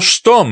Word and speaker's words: Sturm: "Why, it's Colonel Sturm," he cried. He pronounced it like the first syllable in stomach.